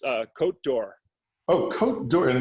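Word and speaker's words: Côte d'Or: always get it wrong oh uh it's uh cote d'or oh code and it's spelled c-o-t-e i'll put the spelling up on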